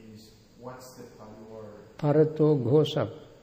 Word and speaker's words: parato ghosa: Parato Ghosa. Parato Ghosa. Parato? Ghosa. How do you spell that?